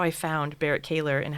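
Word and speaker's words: Berrett-Koehler: So when I think I pronounced it wrong initially, Barrett Kaler? Barrett Kaler. Barrett Kaler is how you say it.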